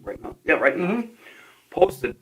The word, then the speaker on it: Rittenhouse: Is that how you pronounce his name? Rittenhouse? Yeah, Rittenhouse.